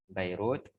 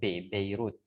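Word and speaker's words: بيروت: Dimas atau damaskus ya bairut Eh itu dalam bahasa Arabnya kalau jalan bahasa yang kita kenal tuh bukan makai batapi Beirut kalau damaskus dalam bahasa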